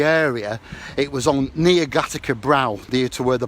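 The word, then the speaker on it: Gateacre: We know it was in Gattaca, in a little village called Gattaca. Gate Acre, it's spelt.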